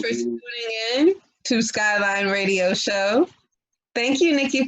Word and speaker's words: Skylyne: He even said his name wrong. It's Skylyne, Mark. You got to do it again because you said it wrong. Oh, wow. Skylyne Mark.